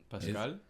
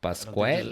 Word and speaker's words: Pascal: Is that how you pronounce that? Yeah, right. Pascal? It's Pascal. It's Pascal. Say it like that. Oh, Like it's not Pascal. I Pasquale. don't think there's a U in there. It's not QUAL.